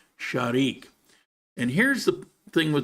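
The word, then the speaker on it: Zharick: i c k so you look at that and go oh zarik no it's as in it's sharik shik sharik actually it's not with the r the r is like a soft d sharik and here's the thing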